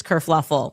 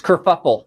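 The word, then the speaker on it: kerfuffle: Causes this whole race kurfluffle. Oh, no. That's it's kurfuffle.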